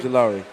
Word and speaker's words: Ojulari: How you pronounce his name again? Ojulari.